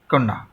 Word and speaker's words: কন্যা: একই রকম ভাবে তোমরা যদি বলো কন্যা, দেখো তাহলে এটা কি হবে, কোন না, কন্যা।